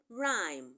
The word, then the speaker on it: rhyme: so in the word rhyme the H the H in rhyme is silent the H in vehle